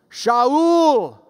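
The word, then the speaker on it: שאול: And falling to the ground, he heard a voice that knew how to pronounce his name. Shaul.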